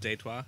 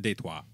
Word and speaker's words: Detroit: It's actually pronounced Detroit. Yeah. Okay? It's Yeah, French.